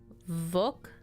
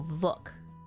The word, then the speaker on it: Vukakin: In Slavic, it's pronounced with a V sound, followed by oo, like book, and a K. So Vuk, not vu. Vuk. And then akin, probably has the same pronunciation as the English word akin because it's like wolf.